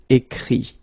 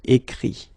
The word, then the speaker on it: écrit: Écrire, to write, will become écrit, okay? Remember that phonetically this final T doesn't exist, okay? So the sound will be only this I, écrit, all right?